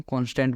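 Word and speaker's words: const: Similarly हमारे पास कॉन्स्ट होता है जिसको हम कॉन्स्टेंट बोलते हैं, अगर उसकी हम फुल फॉर्म देखें तो, बट जनरली हम उसको कॉन्स्ट प्रोनाउंस करते हैं और कॉन्स्ट ही हम उसको लिखते हैं इस तरीके से, कॉन्स्ट।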